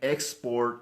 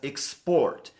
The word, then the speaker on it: export: the word export as export please don't stress the second syllable please stress the first syllable not export export not